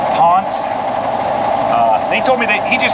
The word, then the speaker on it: Ponsse: It's actually pronounced Ponsse.